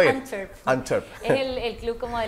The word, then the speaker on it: Antwerp: Pronúncelo bien. Antwerp.